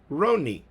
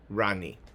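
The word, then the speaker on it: רָנִּי: That is called a kamatz katan, and it is pronounced Roni, not Rani.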